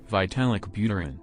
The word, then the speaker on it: Vitalik Buterin: how you say his name look it up vitalik buterin ethereum classic undermining and degrading ethereum strengthens cardano